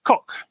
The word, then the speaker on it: Coq: to say it in English it's it's it's pronounced Kok and so that's yeah coq because it's it's the cockerel yeah its logo